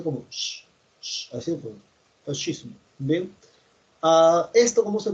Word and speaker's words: fascismo: SC se pronuncia como así, pues, fascismo.